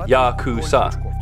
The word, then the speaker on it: Yakuza: that can be drawn is 893 pronounced Yakuza in Japanese that adds up to